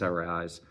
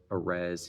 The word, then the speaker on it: Arráez: I'm talking about Luis Arráez or Arráez. His name rhymes with prize, so at least Luis Arráez.